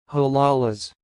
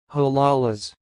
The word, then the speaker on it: halalas: will repeat again put a little bit slower huh Lala's huh Lala's that's all thanks for listening if you like